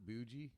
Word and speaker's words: bougie: He does the hard Bougie. G. Bougie. It's not the hard G.